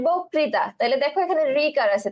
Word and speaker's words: বক্তৃতা: এই অটা কি হয়ে যাবে ওকার হয়ে যাবে, তাহলে বয় ওকার। আচ্ছা, আমি এবার মুখে যা উচ্চারণ করতেছি, আমি বলতেছি বোক, ওক, ঠিক আছে, বক্তৃতা, বক্তৃতা, ঠিক আছে? মুখে যে উচ্চারণ করতেছে আমি জাস্ট সেটাই লিখলাম যে বক্তৃতা।